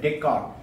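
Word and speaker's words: Descartes: it a d e s is silent Decor 300 years ago you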